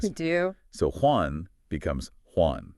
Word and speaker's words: Juan: So Juan becomes Juan. Juan.